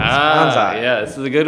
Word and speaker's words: Kansei: So, but no, it's always been Kansei. It's a Japanese word. That is how it is spelled. There is a part of Japan called Kansei with an AI.